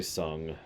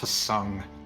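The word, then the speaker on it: Tseng: Hey, Sung. We finally see him. Let us on a merry chase. It's pronounced Tsung.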